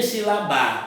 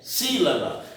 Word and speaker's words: sílaba: Se eu tirar o acento, fica sílaba. Então, não é sílaba e nem silabar. O nome é sílaba.